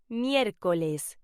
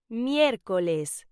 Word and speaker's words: miércoles: Wednesday is pronounced miércoles. Say it with me. Miércoles.